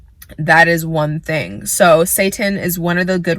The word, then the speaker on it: seitan: Another one that I have actually never tried before is, it's pronounced seitan, whatever. Not too big of a fan of what it's named, but it's seitan.